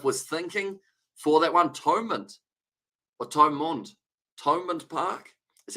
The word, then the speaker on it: Thomond Park: Thomond Park is how you pronounce it.